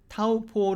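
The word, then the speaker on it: Taupō: 들어보시죠 깎고 깎고 이건데요 이 영어로 된 발음과 마을이 어로 된 발음의 가장 큰 차이는 제가 보기에는 모음이에요 맨 마지막에 모음을 어떻게 발음 할 것이냐 하는 것이죠 o 로 끝나면 이 영어를 하는 사람들은 그것을 자연스럽게 어우 이렇게 발음 하고 싶어 한단 말이죠 그런데 조금 전에 들으신 마을이 어 발음을 생각해 보시면 그냥 5 이렇게 끝났습니다 한국사람에게 이거를 다름 하게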